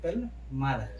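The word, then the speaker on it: plumber: प्लम्बर को बुला लो, बट उसका सही से उच्चारण क्या होता है, प्लम्बर। यहाँ बी के पहले क्या आया है, एम, इसलिए यहाँ बी क्या रहेगा, साइलेंट।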